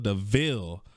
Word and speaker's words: de Vil: rafters and then corella deville popped the out and just it's that it's spelled devil but it's pronounced deville confused bruh she was